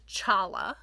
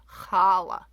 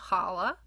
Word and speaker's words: challah: So it's not pronounced challah. The reason you have the CH in English is because they were trying to figure out a way to say, hey, it's not a soft H sound, challah. It's actually a guttural H sound, challah. So the correct Hebrew pronunciation is challah.